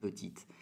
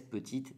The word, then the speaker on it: petit: femenino, sí puedes decir petite. Pero cuando es masculino, por favor, no dices petite, tú dices petit. La T que se escribe no suena al masculino. Petit, petit, solamente.